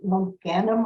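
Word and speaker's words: logainm: on your handout is called Low gandum I believe is how you say it l-o-g-a-i-n-m so there's another another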